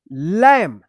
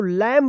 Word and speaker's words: lamb: देखिए यहां पे एम के जस्ट बाद क्या है? बी है, तो बी क्या होगा? साइलेंट होगा, तो इसको क्या पढ़ेंगे? लैम, लैम पढ़ेंगे, इसको लैम्ब मत पढ़िएगा।